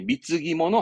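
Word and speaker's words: 貢ぎ物: 그래서 우리말로는 공물 쓴 건데 발음을 이제 미츠기모노 합니다.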